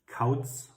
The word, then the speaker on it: Kauz: Kauz.